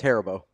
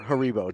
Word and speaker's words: Haribo: No, it's Haribo. Or Haribo, depends on where you're from. But do you remember Sevier Googling the pronunciation out loud on air?